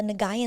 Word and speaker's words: Nguyen: ones with like the Nwin last name, right?" And I'll be like, "Nwin?" The G is silent. The G is very silent. Make sure you guys know that.